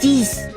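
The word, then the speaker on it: dix: This is D-I-X. D-I-X. Dis. Okay. It doesn't Dis.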